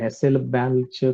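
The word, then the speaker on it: Hasselbalch: कसं आहे हॅसेलबॅक, कसा आता त्याचा उच्चार करताय बघा, स्पेलिंग लक्षात ठेवा.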